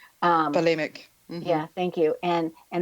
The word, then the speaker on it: bulimic: Well, I know with the how do you pronounce that? Bulimic. Bulimic.